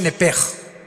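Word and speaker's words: נפש: Apúntala como suena nepesh con sh se pronuncia nepej.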